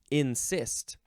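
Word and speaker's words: encyst: next word is insist now it's not like I insist you to listen to this show no this is spelled e n c y s t nist like some people get like cysts on their head or in their bodies um this is a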